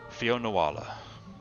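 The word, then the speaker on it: Fionnuala: Okay, so it's pronounced Fionuala.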